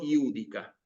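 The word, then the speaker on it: judica: Esta J que aparece aquí en realidad se pronuncia como una I.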